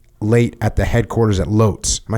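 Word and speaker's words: Łódź: regular regularly stay late at the headquarters at loes am I saying that right Lots Yes W but lots yeah that's how you pronounce it uh not now that I was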